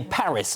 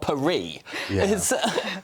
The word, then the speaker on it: Paris: and turn up and we say Paris not perie I just point to